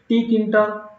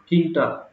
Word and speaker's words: Tkinter: can pronounce it like tter and simply you can call it kter okay tter and kter these are the two pronunciations you can make t silent also kter and tter so